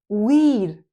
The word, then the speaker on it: we'd: We would weed weed just like need they would they made.